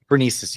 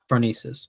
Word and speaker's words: Phronesis: So you wrote a piece about, am I pronouncing this correctly? Phronesis? Phronesis, yeah. Phronesis.